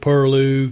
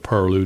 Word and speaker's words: pilau: People do spell it wrong or have changed it around, but the original spelling of purloo doesn't seem to look like purloo at all. Looks like pilau. It looks like a foreign word.